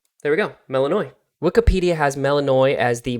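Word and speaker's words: Melinoë: want to do is go over how to pronounce the protagonist's name there we go melanoi Wikipedia has melanoi as the moon goddess in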